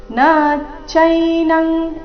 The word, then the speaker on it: ನಚೈನಂ: ನೈನಂದಹತಿ ಪಾವಕಹ ನೈನಂದಹತಿ ಪಾವಕಹ ನಚೈನಂಗ್ ಇಲ್ಲಿ ನ ಈ ರೀತಿ ನ ದೀರ್ಘ ಮಾಡಬಾರದು ನ ಚೈನಂಗ್ ಈ ರೀತಿ ಮಾಡಬಾರದು ನಚೈನಂಗ್ ಈ ರೀತಿ ಬರಬೇಕು ನಚೈನಂ ಕ್ಲೇದಯಂತ್ಯಾಪೋ ನಚೈನಂಗ್ ಅನುಸ್ವಾರದ ಉಚ್ಚಾರಣೆ ಕ ವರ್ಗದ ಅನುನಾಸಿಕದ ರೀತಿ ನಚೈನಂ ಕ್ಲೇದಯನ್ ಕ್ಲೇದಯನ್ ತ್ಯಾಪೋ ಕ್ಲೇದಯನ್